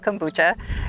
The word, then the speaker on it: kombucha: lot of people don't quite know how to pronounce it but it's called kombucha it is a fermented tea made from certified